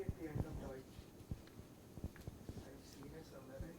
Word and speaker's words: Deutsch: Deutsch. Da haben wir noch eine Kombination. What is the sound of this? Oi. Deutsch. Deutschland ist in Europa.